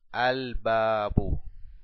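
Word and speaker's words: الباب: Abajo, si le agregamos el artículo a la palabra babun, es igual a al-babu, al-babu. Como ven, pronunciamos el alef y el lam.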